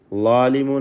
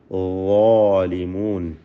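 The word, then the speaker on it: ظالمون: ളാലിമൂൻ എന്ന് പറയുമ്പോൾ ളാഇന് തഫ്ഖീമാണ്, ഇസ്തിഅലാഇൻ്റെ ഹർഫാണ്. ള ഉച്ചരിക്കുമ്പോൾ ലാ എന്ന് പറയരുത്, ളാലിമൂൻ എന്ന് പറയരുത്, മറിച്ച് ളാലിമൂൻ. ദാല് നമ്മൾ പറയാറുണ്ട്, ദാലിക്കൽ കിതാബ് എന്നൊക്കെ പറയുമ്പോൾ ദാല്, ആ ദാലിൻ്റെ അതേ മഖ്റജിൽ നിന്ന് തന്നെ ഉച്ചരിക്കുന്ന ഒരക്ഷരമാണ് ളാ.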